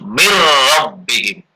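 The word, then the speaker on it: من ربهم: Sekarang yang ro, misalnya min rabbihim, jadi membacanya yang betul mir rabbihim. Dan tidak boleh dengung, nggak boleh mir rabb, tapi singkat aja mir rabbihim.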